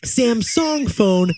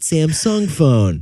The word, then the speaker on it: Samsung: No, you don't, and you shouldn't pronounce it that way either because it's actually Samsung phone, not Samsung phone.